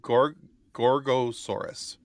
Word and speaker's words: Gorgosaurus: Oh yeah, no, Gorgosaurus. And he looks like a Gorgosaurus.